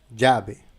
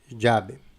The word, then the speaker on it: llave: Si nous avons 12 L, la prononciation c'est je. Par exemple, dans le mot llave, la clé, llave.